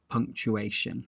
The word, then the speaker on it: punctuation: Firstly, let's look at the pronunciation of the word punctuation. As you can see here from the phonetics, it's a 4-syllable word with the stress on the third syllable.